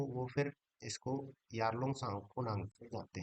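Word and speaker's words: Yarlung Tsangpo: तो वह फिर इसको यारलंग साको नांग जाते हैं यालुंग सांग टी साइलेंट है यहां पे तो यारलंग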